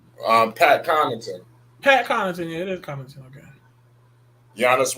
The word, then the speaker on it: Connaughton: Yeah, it is Connaughton.